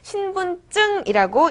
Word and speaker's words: 신분증: 쓸 때는 신분증이라고 씁니다. 하지만 발음할 때는 이어서 신분증이라고 읽는 것이 맞습니다.